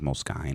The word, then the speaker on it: Moleskine: can have like a Moleskine you know take notes in that bull Skies no well it's actually pronounced most kind is it yeah sorry